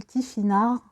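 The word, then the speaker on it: Tifinagh: Je voulais savoir, moi, qu'est-ce qui arrive à toi comme énergie avec les Tifinag, qu'on prononce les Tifinars, GH se prononce R, et savoir en fait, ben voilà, qu'est-ce qui arrive à toi.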